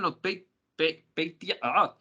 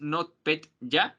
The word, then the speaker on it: NotPetya: De hecho se parece mucho al NotPetya. Me trabo mucho con ese nombre. Es NotPetya, pero es NotPetya.